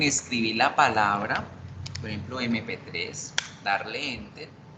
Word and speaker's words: MP3: Yo escribo la palabra con M, pero resulta que yo la pronuncio con E, MP3.